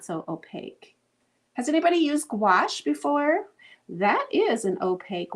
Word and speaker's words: gouache: now I don't remember it's like kind of like squash but it's gouache let's go ahead and